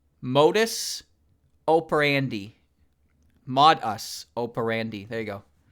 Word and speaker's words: modus operandi: I think this is what's called a modus operandi. Operandi? Module operandi. Modus operandi.